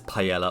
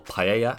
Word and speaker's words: paella: let's get cooking before we make that delicious Pella or paella as it should be pronounced we are going to prepare the tofu